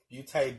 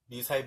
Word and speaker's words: Beauté: But this is the Beauté Basics. I think that's how you say it. Beauté. There's an accent mark there, girl, boy, whoever you are. Beauté Basics.